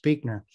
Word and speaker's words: Buechner: don't know is that his last name's pronounced Buechner.